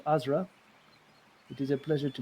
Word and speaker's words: Azra: My name is called Azra. It is a pleasure to meet you. Azra.